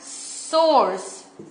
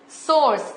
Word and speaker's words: src: Okay, इसे pronounce करते हैं सोर्स। इसे कैसे प्रोनाउंस करते हैं? सोर्स। इसे कहते हैं SRC एट्रीब्यूट। ओके, इसे हम कहते हैं सोर्स।